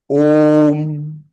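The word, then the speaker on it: ॐ: This Om has to be pronounced with short intervals, and that is Om, Om, Om. It is not Ma, it is Am I clear, everybody?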